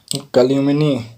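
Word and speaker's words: calumny: Next word है हमारा कल्यूमिनी। यहाँ पे चलियूं हो गया है गलती से, कोई बात नहीं, कल्यूमिनी बोलते हैं इसे, कल्यूमी बोलते हैं। यहाँ पे एन साइलेंट है।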